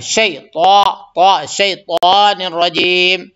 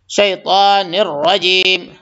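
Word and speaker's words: الشيطان: اس میں شین کو نکالیں گے، شیطان الرجیم، شیطان الرجیم، اور تا کو موٹا کریں گے، اور نررجیم، را کو پر کریں گے، نررجیم نررجیم نہیں.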